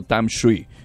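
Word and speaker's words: Tamsui: zona cercana a Taipei del río Tam Shui, que se puede pronunciar Tam Shui también.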